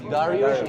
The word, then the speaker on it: Dariush: His name is Dariush. Dariush. You know, Dariush is the Persian pronunciation for Darius.